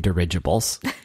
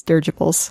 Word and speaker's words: dirigible: that you called him dirigibles but he pronounces it wrong so he says Durga poles yeah and he goes searchable